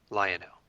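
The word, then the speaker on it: Lianaux: it says to me lionel and it's spelled uh l-i-a-n-a-u-x lionel and uh i could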